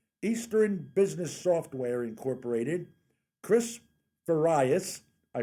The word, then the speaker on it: Farias: e b s eastern business software incorporated chris various i pronounced it correct you got it thank you